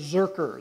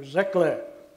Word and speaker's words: Zurcher: My last name is Zurcher. The C-H is pronounced like a K.